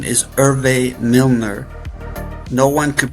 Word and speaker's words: Herve: toner news is so yes my name is irve Milner no one could pronounce irve so I just call myself